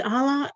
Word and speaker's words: Ala: Did I pronounce it correctly? Allah? Hi, everyone. My name is Ala, and I'm calling from New York.